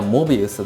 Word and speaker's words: Mobius: がいて、公式さんにどちらで発音するのが正しいんですかって聞いたら、正式にはモビウスだそうです。